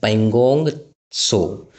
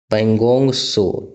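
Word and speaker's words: Pangong Tso: पगोंग सो। पगोंग सो तिब्बती वर्ड में झील को सो कहा जाता है। टी एसओ लिखा जाता है। टी साइलेंट रहता है।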